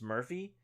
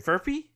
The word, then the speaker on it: Furphy: to pronounce this because you're saying it's Murphy. Oh no, sorry, Furphy. Johnny Furphy. God, dude, I never really cared about a Kansas player, but I would love to get a Furphy.